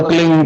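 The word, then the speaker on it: क्लीं: की मात्रा और बिंदी, उसका उच्चारण होगा क्लिंग गा की ध्वनि निकलेगी पीछे।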